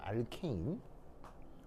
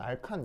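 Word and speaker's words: alkane: 알케인 그래서 여기 발음기호는입니다 알케인 일본식으로 알칸 이렇게 있는데 뭐 면 알칸 이렇게 하시면 되고 침입하면 알케인 이렇게 이제 취향대로 읽으시면 되겠습니다 그래서 알케인 자이 녀석은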